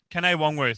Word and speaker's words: Kene Nwangwu: Kene Nwangwu, thank you very much.